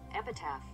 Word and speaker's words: epitaph: Is that how you say it? Epitaph, a phrase or statement written in memory of a person who has died, especially as an inscription on a tombstone. It's epitaph.